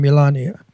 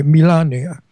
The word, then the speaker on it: Melania: I pronounce it Italian. Melania. That's how her name is pronounced in her country by the way. Melania.